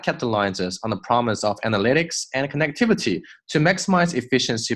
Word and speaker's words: analytics: build an。OK，will build an ecosystem that 这个 T 弱化，不要读成 that 是错的。That capitalizes on the promise of 看到了吗？前后连在一起。On the promise of analytics 这个单词注意了，重音在后面。Analytics and connectivity 这里是 promise of analytics and